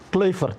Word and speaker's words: Kluivert: Dan karena Anda sudah lama di Belanda, lalu kebetulan sekarang kita punya pelatih timnas yang baru itu adalah Patrick Kluivert. Kluivert apa Kluivert Kluivert.